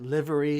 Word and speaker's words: livery: i found out that livery is pronounced the same way it is as in delivery so that's my mistake